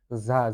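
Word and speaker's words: ز: ঝা ঝা জা এর উপরে এক নক্ততা ঝা ঝিজি পোকার মত একটু উচ্চারণ করতে হবে শব্দ করতে হবে ঝা ঝা ঝা ঝা এরপরে সিন সিন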